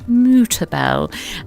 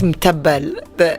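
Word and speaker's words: Mutabbal: do you have any Mutabel? And I've been told that that's not how it's said at all. Yeah, it's mtabbal. It's kind of the M and the T are connected.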